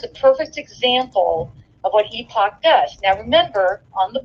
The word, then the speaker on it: Epoch: what the epoch and i used to pronounce it epic because i didn't know how to pronounce it the night or one of their journalists and he's like epoch i'm like oh my